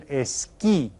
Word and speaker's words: esquí: El esquí. El esquí. And you see that has that accent there. That means we stress that syllable.